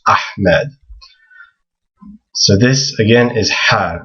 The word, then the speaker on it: Ahmed: So when you hear people say Ahmed, they're actually pronouncing it wrong. It's actually this letter that they want to try to pronounce. It's Ahmed.